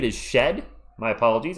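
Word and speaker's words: Shead: Oh, Jamal Sheet is shed. My apologies. It's pronounced shed. I'm just going to take the letter A out of his name so I know it's shed.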